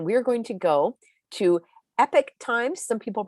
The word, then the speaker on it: Epoch Times: my screen again we're going to go to epic times some people pronounce it epoch times epic times isn't this interesting 88 people have